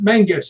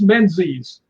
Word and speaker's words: Menzies: It's not Mengus, it's Menzies.